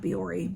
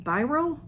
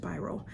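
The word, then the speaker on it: Bioré: It's Byroe, but it's not Biore. Biro, I would say Byroe. Biro. There's no accent over the E, so maybe by I think it's just Biro. And this is Biro, New York, it says.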